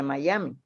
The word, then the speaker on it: Miami: Y por eso es que se escribe Miami, pero se lee Miami, porque es la A que es EI.